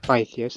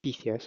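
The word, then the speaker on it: Pytheas: I assume they are like characters in the doc pronounce it as pythus instead of ptheus as I was uh doing it originally.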